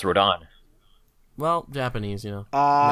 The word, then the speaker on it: Rodan: pronounce it your way it's pronounced Road on Dan it is within I heard it pronounced Road on well Japanese you know